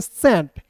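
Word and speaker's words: scent: टी तो इसे पढ़ेंगे सेंट। एस सी ई एन टी को पढ़ेंगे दोस्तों सेंट। कैसे? एस के बाद सी है तो सी को साइलेंट कर दीजिए।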